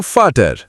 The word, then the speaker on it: Vater: Rule number 2. V is equal to F. Vater is equal to Vater.